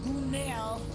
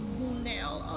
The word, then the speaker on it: Gunel: Okay, so Gunel was how you pronounce the lady in the store's name is Gunel.